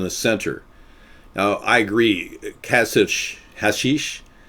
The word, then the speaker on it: Kasich: It's Kasich, not Kasich. It's Kasich. Yeah, I know. I pronounce his name Kasich all the time.